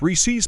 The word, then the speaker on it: Reese's: When people pronounce Reese's candy as Reese's, what the fuck are you on about? Reese's Pieces? Say pieces like a normal person, damn it, that and it's Reese's. Reese is a real name. Adding a possessive SS does not change the pronunciation of the whole name.